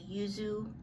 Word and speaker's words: yuzu: this saturday skin and it's the yuzu yeah that's how you pronounce it yuzu vitamin c cream for